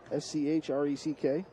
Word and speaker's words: Schreck: This is Abby Schreck, S-C-H-R-E-C-K. Is that how you pronounce Abby's last name?